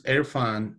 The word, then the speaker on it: Irfan: dad yeah so is it is your name pronounced airfan yes my middle name is airfan and i'm from pakistan okay so usually in